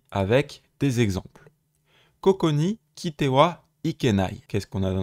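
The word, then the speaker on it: 来ては: Kuru, qui est irrégulier, donc ici il se prononce bien Kitewa, et on a notre fameux Tewa Ikenai qui est la forme qu'on va étudier aujourd'hui.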